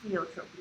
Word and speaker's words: pleiotropy: Or pleiotropy, I think pleiotropy is how it's pronounced.